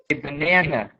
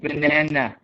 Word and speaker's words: banana: in english um we actually we put the stress on the middle syllable we say banana we don't say banana right um it's not